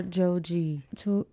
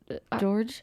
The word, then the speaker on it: Joji: Like and George or Joji? George? Don't you pronounce it Joji?